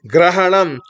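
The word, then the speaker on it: ग्रहणम्: Next, Grahanam. G, R, A. This whole thing is Gra. G, R, A. H, A is Ha. N, A is Na. Grahanam.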